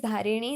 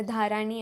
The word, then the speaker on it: धारिणी: करते हैं तो यस my name is धारिणी नॉट धर्म या फिर नॉट धारणी या फिर धारानी ऐसा मेरा नाम नहीं है मेरा नाम धारणी है